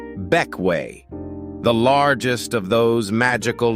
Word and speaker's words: Bequia: Number four takes us to the Grenadines and a green sailor's haven pronounced Bequia, the largest of those magical little islands.